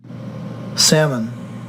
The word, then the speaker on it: salmon: O and Sam Roberts the L is silent so so many say that so salmon the here salmon that's it salmon salmon